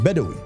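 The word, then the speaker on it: بدوي: with the name bwin or more accurately its Arab pronunciation ation bedi which is a name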